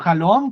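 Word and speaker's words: חלום: De nuevo, la palabra halom siempre se escribe de la misma forma. Het, que es como J, Lamed, que es como L, Mem, que es como M, Halom.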